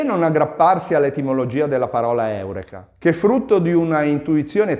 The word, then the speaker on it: eureka: Gerone Ma secondo voi perché oggi pronunciamo la parola Eureka Eureka questo accade perché l'italiano segue le regole della lingua latina che vogliono l'accento sulla penultima sillaba se la vocale è lunga se ci trovassimo Dunque